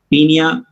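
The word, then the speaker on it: Paeonia: Form में बोलते हैं पीनिया ओ साइलेंट, पीनिया जैपोनिका।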